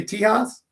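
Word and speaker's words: Tejas: do you say that you say it in Spain so you see Texas and Spanish say tea house that was the only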